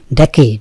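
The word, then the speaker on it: decade: ডেকেড, 1 ডেকেড, 3 ডেকেডস। এই ডেকেড শব্দের অর্থ কি? ডেকেড মানে হচ্ছে, ডেকেডের দুটো উচ্চারণ হচ্ছে ডেকেড এবং ডিকেড, দুটোই ঠিক আছে।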